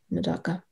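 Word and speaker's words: medaka: biology good guess the correct spelling is m-e-d-a-k-a madoka good job next up we have speller 140.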